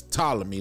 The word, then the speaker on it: Ptolemy: And it's Ptolemy, like you don't really pronounce the P.